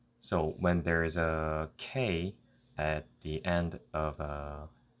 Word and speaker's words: 악: So with a, you add K sound at the end. So it becomes ak. One thing to notice is that it doesn't have the ak, the k sound at the end. You only need to pronounce until the stopping sound of a K.